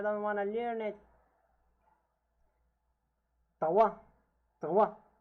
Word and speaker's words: trois: Trois. Trois. Again, the S is not pronounced, and the O and I is pronounced as wa.